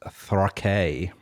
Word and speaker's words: Rakei: I just hit play and it sounds like Rocky.